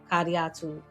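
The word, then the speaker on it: Kadiatou: Kadiatu Jallo is the correct pronunciation, as she taught me, was the humanity.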